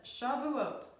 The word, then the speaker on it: Shavuot: again she vet I in tough that says Shavuot so we're going to throw in a bonus